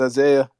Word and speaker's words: Isaiah: give an intro or isaiah i might have mispronounced your name no you said it correctly yes i say and um yeah so yeah my name is isaiah i'm joined developer dao